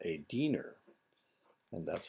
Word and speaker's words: Diener: This Diener is how that's pronounced. It's a German word that means helper or servant.